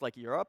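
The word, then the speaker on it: NeurIPS: the conference that is now nearer up neur IPS some Antonis pronounced like a Europe and I'm not actually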